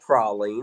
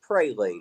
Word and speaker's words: praline: It is not Proline. It's praline. Welcome to the South.